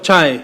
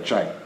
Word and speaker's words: Czaj: alfabeto eslavo, com CZAJ, mas a pronúncia, a fonética é a mesma. É C-Z-A-J, é o Chai. É o Tchai, igual a República Tcheca.